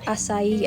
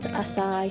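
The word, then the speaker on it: açaí: So, for the next few clips, just please ignore the pronunciation of the word asai. I now know the is asai and not asai.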